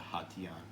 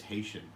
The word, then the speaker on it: Hation: share gaurav lineup the hot tea on I've heard people pronounce it as Haitian which is not correct very nice and there's